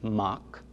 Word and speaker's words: Mac: from the truth because mac m a c pronounced in irish mach simply means sun and